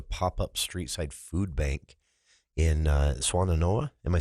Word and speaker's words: Swannanoa: And another photo here of volunteers loading bags of groceries at what is a pop-up street-side food bank in Swannanoa.